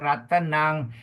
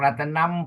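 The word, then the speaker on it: ratanaṃ: Ratanang M with the dot is pronounced as N G lah. Like sing.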